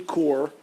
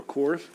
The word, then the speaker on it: Corps: And then under this umbrella will be 3 core, or cores, I don't know. Core. Is core plural? You never pronounce that.